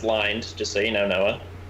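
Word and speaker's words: Lynde: social media just type in ly nde it's pronounced lined just so you know noah i got it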